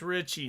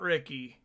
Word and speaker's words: Ricci: It's pronounced Ricci, not Ricky.